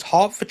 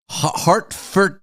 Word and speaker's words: Hertford: Hartford, how do you say that? Harford. Hartford. Hartford. Hart. Hartford. Hartford. Harford. Hart as in your body. Ford as in the motor car.